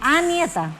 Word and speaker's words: Anieta: Anieta, no nieta. Anieta se escribe.